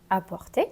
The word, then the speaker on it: apporter: Donc maintenant, on va passer à emporter et apporter. Pour la prononciation, apporter.